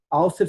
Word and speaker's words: Alster: Auster se escreve ALSTER.